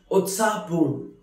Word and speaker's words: उत्साहपूर्ण: Utsahapurn, lively or excited. Utsahapurn, which is pronounced as Utsahapurn, which means very excited, very lively.